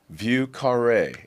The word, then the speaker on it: Vieux Carré: Vail, taking in a show and a little Vieux Carré. I'll get a little cheers because I pronounced the name right.